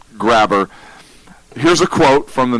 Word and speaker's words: Graber: which is even better it's probably pronounced Graber but under this story I'm saying it Grabber here's a quote from